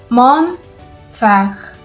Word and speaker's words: Montag: Montag Montag Montag means Monday.